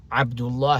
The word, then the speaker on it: Abdullah: Sometimes pronounced Abdullah or Abdullah. Abdullah is the proper way to pronounce it.